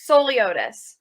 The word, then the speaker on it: Souliotis: Let's see, it's Souliotis, right? Souliotis? Close. Souliotis. Souliotis got it the second time.